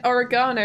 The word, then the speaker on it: oregano: but you also said oregano wrong for most of your life. How did you pronounce oregano? Did you go... I know the American pronunciation of oregano is oregano, right? But it's oregano here.